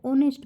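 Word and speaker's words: honest: अपन आगे देखते हैं इसमें ह साइलेंट होता है इसलिए यह होता है ऑनेस्ट मैन इसलिए इसके पीछे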